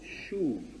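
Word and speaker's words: שוב: Pero el verbo hebreo ahí es el verbo shub. Se pronuncia así, shub.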